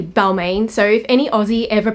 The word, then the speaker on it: Balmain: oh, don't take the Balmain exit, and my husband would be like, why are you saying Balmain? Because I think of Balmain, Paris, but it's actually Balmain.